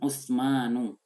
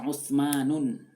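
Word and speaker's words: عُثْمَانُ: Contoh nama Uthman tulisannya, perhatikan di catatan nanti. Tolong kalian perhatikan catatan. Uthmanu, ain, tha, mim, terus alif, mim dan alifnya panjang, terus ada nun. Jadi jangan dibaca Uthmanun.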